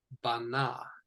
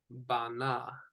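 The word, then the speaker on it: בנה: It is pronounced bana, bana. So we've got 2 syllables. The stress is on the final.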